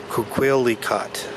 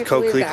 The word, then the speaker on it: Coquelicot: Okay, so Coquelicot, which apparently means poppy. Coquelicot. Yep, I would have said Coquelicot. But no, it's Coquelicot.